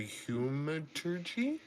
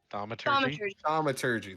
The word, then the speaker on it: thaumaturgy: A third the humaturgy? Thaumaturgy, thank you.